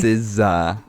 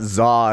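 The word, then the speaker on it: SZA: Styled as sa. That's how it's pronounced. Yeah. It's not zah if that's what you thought.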